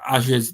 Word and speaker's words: Azure: game was run on Azure's dedicated servers. Apparently, that's how you say it, Microsoft. Azure dedicated servers, and a lot of the game was offloaded onto the cloud.